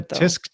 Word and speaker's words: tsk: tisk tisk Tick Tock but but T tisk is spelled TSK okay it'sing that that's what TSK tisk actually is I I hear people say tisk tisk they say it because they're purposely mispronouncing what it is but okay